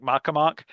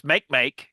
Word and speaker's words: Makemake: There's also, and I want to pronounce it this way, though I'm sure it's actually something like Makemake, but it's Makemake, Makemake, which is an icy body